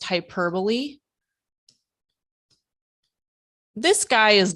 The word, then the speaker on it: hyperbole: it it's called hyper it looks like hyper Bowl but it's pronounced hyperbole this guy is not